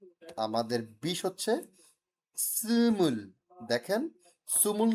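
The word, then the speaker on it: 스물: দেখেন সুমুল না, কিন্তু নর্মাল সুমুল না, কারণ কি এখানে আছে উ, 2 দাঁত, উপরের পাটির দাঁত সামনের, উপরের পাটির দাঁত নিচের দাঁত একসাথে লাগায়া আমাকে উচ্চারণ করতে হবে সুমুল, সুমুল।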